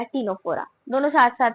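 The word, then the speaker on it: Ctenophora: नाम भी देखो ना, सेम सेम से, निडेरिया, टीनोफोरा, दोनों साथ साथ में स्टार्ट हो रहे हैं। एंड दोनों में सी आ रहा है, बट देखो दोनों में ही साइलेंट है, तो यहाँ पे भी एक कॉमन फीचर हो गया है ना।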